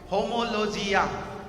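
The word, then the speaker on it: ὁμολογία: Homologia. Am I pronouncing correctly, Pastor?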